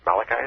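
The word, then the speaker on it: Malachi: Father Malichi, is it? Yes. Okay, pronounce it right.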